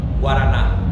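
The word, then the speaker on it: guaraná: How do you pronounce it? Guarana? Guarana.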